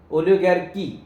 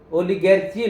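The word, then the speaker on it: oligarchy: ओलिगैर्की है, ओलिगैर्की, ओलिगैर्ची नहीं, ओलिगैर्की, मोनैर्की ध्यान देना, हाँ, एनर्की, हाँ ध्यान देना, हाँ।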